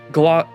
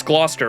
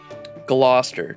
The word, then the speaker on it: Gloucester: to say yes then please take us to Glock Gloucester it's Gloucester right British We're British broth Gloucester Jesus Christ anyway I trust